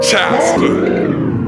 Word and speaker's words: Charleston: Gullah Geechee culture exists all around you as you walk about, dine, and sightsee throughout Charleston. Now, that's how Gullah Geechee speakers pronounce the word Charleston, not Charleston.